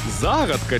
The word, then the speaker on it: загадка: взагалі шокований думав заплутаю загадка чи загадка але абсолютно всі знають що правильно буде саме загадка загадка загадка загадка я так себе казав загадка саме загадка наголос на першу букву а бо дехто плутає і каже загадка але ми уже із